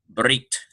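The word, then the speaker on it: ברית: No vowel precedes it, and the pronunciation is hard Brit.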